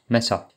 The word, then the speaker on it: mäso: Il y a aussi A avec un tréma qui est théoriquement prononcé A, donc un E plus ouvert, mais quasiment tout le monde le prononce exactement comme le E. Mesa.